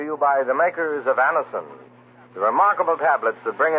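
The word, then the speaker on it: Anacin: It's spelled A-N-A-C-I-N. Anison.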